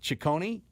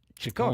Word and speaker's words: Ciccone: in Karate Kid 6 as the villain, Slade Ciccone, maybe Ciccone, depending on how the announcers go with it. In Italian, we would call it Ciccone. Ciccone, but which is different than Ciccone. Ciccone. It's Ciccone. Ciccone.